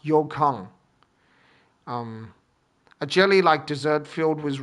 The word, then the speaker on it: Yokan: Okay, this is called Yokang, not Yokan. I've been calling it Yokan, but that's not correct. It's actually pronounced Yokang.